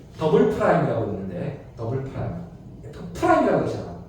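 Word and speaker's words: double prime: 그래서 한국인들은 다 투프라임이라고 읽어. 더블 프라임이 맞는 표현인데 프라임이라고 읽는다고.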